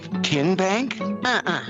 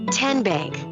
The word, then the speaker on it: TN Bank: you enroll wildcats role how do you say the name tn bank nope tin bank so what is it ten bank ten as in tennessee right here where all